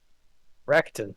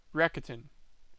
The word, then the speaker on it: Rakuten: Sorry, how is it pronounced? Rakuten, apparently. Rakuten. Yep. Daz looked up the actual pronunciation. They're Japanese. Rakuten.